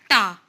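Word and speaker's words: τ: Arrow means this shows that it is a vector quantity and it is pronounced as ta.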